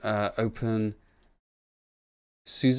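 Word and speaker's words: openSUSE: Open Suze? Is it Open Suze? Is that how you pronounce it?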